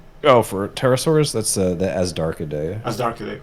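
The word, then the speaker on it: Azhdarchidae: How do you pronounce it? Oh, for pterosaurs, that's the Asdarchidae.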